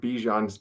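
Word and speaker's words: Bijan: Did you guys hear that Bejan Robinson wants to be called Bejian Robinson again instead of Bjan?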